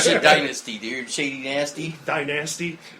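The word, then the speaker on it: Shadynasty: try to say that right sh Dynasty dude Shady nasty Dynasty sh Dynasty for it's a it's a reference to oon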